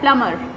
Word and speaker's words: plumber: ये प्लम्बर नहीं होता, इसमें B साइलेंट होता है, प्लम्बर।